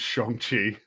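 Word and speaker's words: Shang-Chi: could mean if um if it pronounced correctly which is shongi that's that's how like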